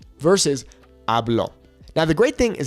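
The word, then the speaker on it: hablo: Accent on it then the natural emphasis is on the second to last vow which in that case would be a ablo versus ablo now the great thing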